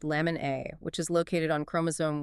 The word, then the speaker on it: LMNA: Specifically, it's a point mutation in the LMA gene pronounced lemon A, which is located on chromosome 1q22.